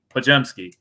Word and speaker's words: Podziemski: gemski pojemski yeah yeah the best way to tell people if you want to know how to pronounce his last name just replace the d The Z and the I with a J and I think there